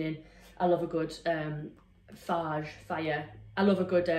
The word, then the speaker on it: Fage: And then last but not least, I've got one of these big Faya, that's how it's pronounced. Faya. It tells you on here, Fage if you want to say.